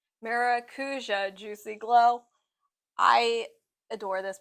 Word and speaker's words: Maracuja: It's the Majuka. I always pronounce that wrong. Maracuja Juicy Glow.